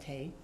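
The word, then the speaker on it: Thầy: So we call him Thai, or I can pronounce it Thay.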